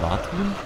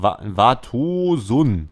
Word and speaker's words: Vartosun: Wie hieß der? Vartun? Nee. Doch, Vartosun heißt der. Okay, Vartosun. Irgendwie so ähnlich. Keine Ahnung. Habe ich jetzt die ganze Zeit falsch ausgesprochen.